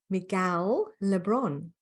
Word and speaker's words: Miguel Le Bron: I'm very excited to be speaking to Miguel Le Bron.